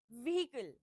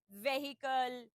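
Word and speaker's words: vehicle: the third word we have we is usually miss pronounce it इज व्हीकल वी ई एच आई सी एल ई अ लॉट of people से it very wrong in a very wrong manner व्हीकल व्हीकल इट्स व्हीकल you know her हैज़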